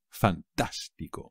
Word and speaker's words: fantástico: también es fácil pero no os olvidéis del acento en la segunda a fantástico me parece fantástico vale